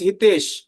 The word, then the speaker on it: Hitesh: Someone, my friends from West is pronounced like Hitesh. They cut the H.